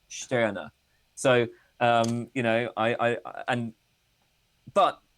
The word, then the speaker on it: Stirner: I have oh no, it's not pronounced like that. I was told that it's pronounced Stirner.